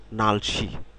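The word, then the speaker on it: 날씨: যেটি রয়েছে সেটি হচ্ছে নালসি নালসি নাল নাল নাল শি নালসি নালসি শব্দটি কিন্তু দুই দুই সিলেবেল বিশিষ্ট শব্দ নাল একটি সিলেবাল শি একটি সিলেবাল এই দুইটি সিলেবেল সমন্বয়ে কিন্তু নালসি শব্দটি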